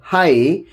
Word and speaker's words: high: In all these cases, GH is silent because before it we have a vowel.